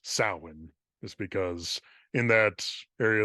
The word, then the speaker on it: Samhain: It's spelled Samhain, but it's pronounced Samhain, just because in that area of the world, spelling is just a complete Is that a mystery.